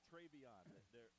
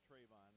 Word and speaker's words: Travion: Travion. It's not Trayvon, like Trayvon. Travion.